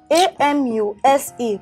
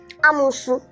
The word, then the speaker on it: amuse: A-M-U-S-E. Pronounced as what? Amusu. Eh? Amusu. Amu what? Amusu. Hey God. This is pronounced as amuse. Amuse. Not amusu.